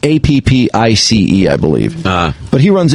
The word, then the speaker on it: Appice: Well, I've always pronounced it Carmine Appice, but a lot of people call him Carmine Appice. So I was going to say, it looks like it would be pronounced apathy.